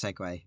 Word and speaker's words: segue: have a look segway oh it's segue i've never actually seen segway written out captioned hill segway